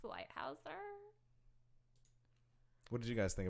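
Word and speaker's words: Leithauser: Leithiser. It's pronounced Lighthouser.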